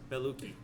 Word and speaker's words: Bellucci: Monica Bellicci. Oh, okay. And Is that how you pronounce it? I don't know. It's Bell and then Gucci but without the G. Oh. Bellucci.